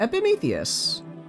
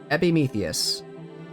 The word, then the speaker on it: Epimetheus: Epimetheus. Epimetheus.